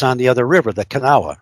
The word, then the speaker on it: Kanawha: 35 is on the other river, the Kanawha, right? Am I pronouncing that right? The Kanawha?